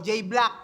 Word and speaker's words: J-Blaque: set sa daming pangalan J black EU lang yyung silent o j black EU silent J main paano ba mag-isip to simot pre J black yung e tsaka u doon pwede ng i-silent ah silent talaga yung